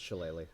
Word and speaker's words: shillelagh: Because no one can tell me how to pronounce it. Ugh, not even Google. It's Shillelagh.